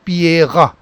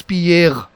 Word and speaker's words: Pierre: So in general, if you talk of Pierre, in French, it is spoken as Pierre, Pierre. So here it is Pierre, Pierre. Only the guttural sound is something disturbing. So this is how it is. Pierre is pronounced with this guttural end.